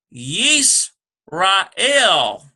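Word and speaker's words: ישראל: or not finally but rather next we have yeast Rael the name for Israel so let's write that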